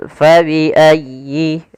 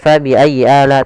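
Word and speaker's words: فَبِأَيِّ: Pada lafal fabiayyi. Ah di sini sempurnakan di tasdid huruf ya. Jangan fabiayy ala tapi dia sempurnakan. Fabiayyi.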